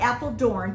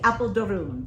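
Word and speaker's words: Apeldoorn: to Apple durun okay so I call it Apple Dorne but it is pronounced correctly Apple durun okay and um it was it I'm telling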